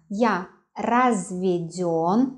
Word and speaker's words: разведён: Итак, я разведен, the stress on ё, я разведен. Я разведена, разведена, the stress on the last syllable.